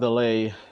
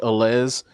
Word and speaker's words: Allez: It's pronounced Allay, right? But it's spelled Alles. And my my Broward County ass was reading this like in my head as oh yeah I got this specialized alles and it makes it